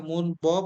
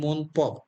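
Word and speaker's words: 문법: আমরা ব্যাকরণ অর্থাৎ মুনব এটা মুন বপ উচ্চারণ হবে না উচ্চারণ হবে মুনপ কি উচ্চারণ হবে মুনপ মুনপ নিউন বা সিমের পরে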